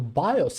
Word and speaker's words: BIOS: So BIOS is the correct way to say it to the master boot record system which limits this size to two terabytes.